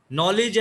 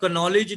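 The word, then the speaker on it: knowledge: हाँ, नो में के साइलेंट होता है, ये कनो नहीं पढ़ना। नॉलेज है, कनॉलेज नहीं है। नाइफ है, कनाइफ नहीं है।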